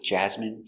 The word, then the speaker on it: jasmine: jasmine tea very good so remember these special words ending with i n e we pronounce them all the same in in remember medicine margarine intestine or intestines more than one genuine famine remember it's countable a famine famine and Jasmine hello welcome to English